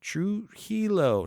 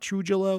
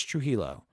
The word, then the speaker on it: Trujillo: metallica uh tyson trujillo true helo not true jello it's true hilo tyson tell me i'm